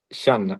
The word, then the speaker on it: Shan: El idioma complicado se llama Shan.